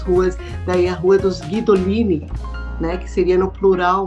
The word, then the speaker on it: Guidolin: os guidolin Ah tá eles pronunciam o u como se tivesse um trema guidolin e aqui no Brasil daí simplificaram colocaram guidolin mas o a pronúncia correta é guidolin daí vieram os e